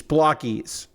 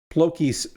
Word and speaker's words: BLOKEES: But it's apparently block, B-L-O-K, and then E-E-S-E's, blockies. Blokees. Blockies makes more sense. Blokees seems more correct. That's where I'm going with. That's what I'm sticking with. But apparently, I've been saying it wrong. So I'm going to endeavor to say BLOKEES from now on.